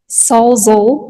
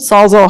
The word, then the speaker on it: Salzol: Sassel will, how do you say your last name? Salzol. Salzol, harder on the Z. It's Okay. a weird, like Salzburg, if that helps.